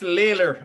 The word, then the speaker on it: Laylor: So it's Laylor, as in Taylor, just Laylor, yeah.